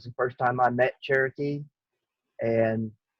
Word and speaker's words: Sherokee: sherokee right or is it Cherokee it's actually pronounced Cherokee but Cherokee okay so just go ahead why